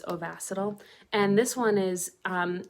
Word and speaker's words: Ovasitol: pronounce ovacital um because i think i was saying oviceital but it's ovacital and this one is